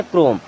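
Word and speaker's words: Chrome: meaning होती है चा चम्मच की लेकिन अब यहां पर एच हो जाएगा हमारा साइलेंट इसे क्या पढ़ते चम नहीं इसे पढ़ते क्रोम क्रम पढ़ते जो हमारे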